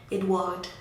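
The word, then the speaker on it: Édouard: The next name we have is Edward, and okay, I said the English pronunciation, let me say the French pronunciation. Edouard.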